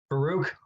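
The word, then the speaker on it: Farouk: pronounce the guy's last name how do you pronounce it baruch okay from why signed with oklahoma with his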